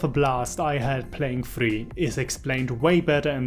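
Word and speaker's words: Furi: no by the way it's still not fury it's free it's a Japanese word so please use the Japanese pronunciation Jesus Christ anyway where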